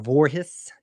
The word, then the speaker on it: Vorhees: Uh, one sack for Vorhees is how it's pronounced.